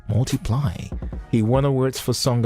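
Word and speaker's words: ×: Now, Photograph was the fifth single from Ed Sheeran's breakout 2014 album X, pronounced Multiply.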